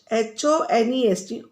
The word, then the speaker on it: honest: H-O-N-E-S-T. But we are pronouncing as honest. Sound of O is coming.